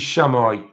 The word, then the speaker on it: chamois: If I pronounced it wrong to you guys, that's how we say it in Yorkshire. We call it a chamois leather. Hiya, Grace. So this is chamois colour.